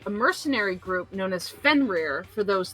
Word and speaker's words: Fenrir: You just have to roll your R's. The Icelandic Oh, I can't do that. pronunciation would be Fenrir.